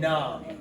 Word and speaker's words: numb: But MB also says because you don't hear the B, and this is going to happen at the end. So that's why we have to practice this. The B doesn't make the sound, so it's silent.